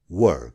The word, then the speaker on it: were: हामी त्यति बेला खुसी थियौं We were happy then. Were को अर्थ हो थिए अथवा थियौं. यसको उच्चारण were होइन है. यसको सही उच्चारण हो were.